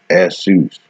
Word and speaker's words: Isu: Jesus is a later derivative of the name Isu, pronounced Esus.